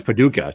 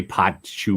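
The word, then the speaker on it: Paducah: to say that right how do you say that Paduka oh that's Paduka see I was not going to say that I'd say Patu or something I don't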